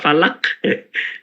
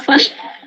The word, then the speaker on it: Falah: Bacanya Kak Falah atau Kak Falak? Kak Falah.